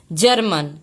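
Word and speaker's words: German: हमारा सेंटर अब देखिए एक और एग्जांपल है जी जी आई आर एम ए एन तो यहां पे जी ए ए रहा है तो इसको हम इसका उच्चारण हम क्या पढ़ेंगे जर्मन ये हमारा जी मिला के जे हो जा रहा था हमारा हम इसे पढ़ेंगे जर्मन ठीक है ये एग्जांपल देखेंगे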